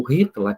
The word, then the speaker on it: Hitler: Na época do Hitler, ou Hitler, que é a pronúncia em alemão, estava vigente a Constituição de Weimar, que todos vocês estudaram, né?